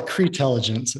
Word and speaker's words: Creintelligence: Is that how you, or do you pronounce it all as one? Well, it's Creintelligence.